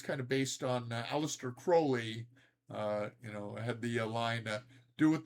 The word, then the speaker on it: Crowley: You pronounced Crowley's name right. You mean Crowley, right? Uh-huh. You mean Crowley? I mean Crawley? Crawley. Yeah. Aleister Crowley.